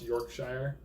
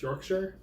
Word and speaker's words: Yorkshire: Apparently it's not pronounced Yorkshire. It's Yorkshire.